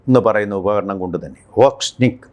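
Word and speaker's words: Орешник: ഈ ഏറ്റവും പുതിയ ആയുധമായിട്ടുള്ള ഓർഷിങ് ഓക്നിക് എന്ന് പറയുന്ന ഉപകരണം കൊണ്ടുതന്നെ ഓക്സ്നിക് എന്നാണ് റഷ്യൻ ഉച്ചാരണം ഓർക്സ്നിക് എന്ന് തന്നെയാണ് അതുകൊണ്ടുതന്നെ അത് ഇല്ലാതായിട്ടുണ്ട് ഇത് വളരെ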